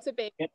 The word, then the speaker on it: Tobago: Is that the right way to pronounce it? Tobago? Yeah, yeah, Trinidad and Tobago, yeah.